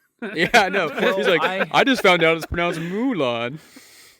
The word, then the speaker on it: Mulan: which I've been told it's not new lawn it's Mulan before we continue how